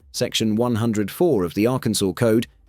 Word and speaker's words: Arkansas: section 104 of the Arkansas code, there's only one correct way to pronounce the state's name, Arkansas, with the final S silent. Say Arkansaws or Arkansawz, and technically, you're breaking the law.